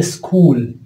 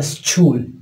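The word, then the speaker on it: school: عندنا مثلا الكلمه مشهوره جدا اللي هي سكول سكول. نوبات اشوف بعض الطلبه يلفظوها سكول سكول، بس هي لا، هي سكول ك سكول.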